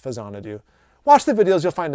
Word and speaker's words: Faxanadu: do I mentioned um you may know it better as faxanadu but it's it's pronounced fanad do watch the videos you'll